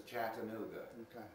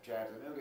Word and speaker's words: Chattanooga: Like the word Kalamazoo is 4 syllables, but it's got the first and last. Chattanooga has 4 syllables, but it's first and third.